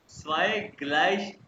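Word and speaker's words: gleich: हैं तो ये होगा प्लुस प्लुस फिर पुस ग्लश जी ग्लश कहते हैं इक्वल को ग्लश कहते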